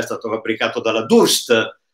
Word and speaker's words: Durst: è stato fabbricato dalla Durst, che non si dice Daust, perché è italiana, altoatesina italiana, e sta per variable contrast.